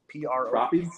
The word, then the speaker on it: Propy: Can you spell it out for me? Yeah, PROPY. Propy?